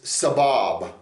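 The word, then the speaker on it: סבב: Okay, this word around is sabab. It's spelled samek bet bet.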